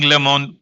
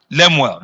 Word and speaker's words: Lemuel: And I know that the King Lemon, am I pronouncing it well? Lemuel, the King Lemuel Recital will come to stay.